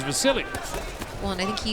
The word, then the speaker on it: Vasyl: His name is spelled V-A-S-Y-L, so some people call him Vasyl, but he says, and the people around him say his name is Vasily.